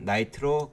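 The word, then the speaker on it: knight: 나이트로 글리세린, 기사 나이트 K가 묵음입니다.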